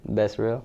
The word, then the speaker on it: Becerril: Becerril. Did I pronounce that right? I got the good pronunciation? You have the Espanol pronunciation.